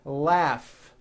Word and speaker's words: laugh: a strong r freedom laugh notice the gh combination in that word laugh telephone notice the ph